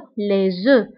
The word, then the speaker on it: les œufs: أما إلى عندنا البلوريال أو الجمع فكنقوله les œufs. هاد f لا ننطقها les œufs.